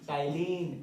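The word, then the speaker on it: ptyalin: तो उस एंजाइम को कहते हैं हम लोग salivary amylase, also known as टाइलिन, P silent.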